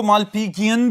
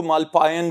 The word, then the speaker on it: Malpighian: जी students, इनको मालपीजियन भी बोलते हैं, मालपीजियन भी, और इवन के कुछ प्रोनाउंसिएशंस ऐसी भी हैं जिनमें इनको मालपायन भी बोला जाता है, लेकिन सस्पेंडेड ट्यूब्यूल्स हैं, आसान तरीके से याद रखें।